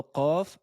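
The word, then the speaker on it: قاف: La lettre Qaf se prononce avec le fond de la langue, regardez bien le schéma, en appui avec le palais mou.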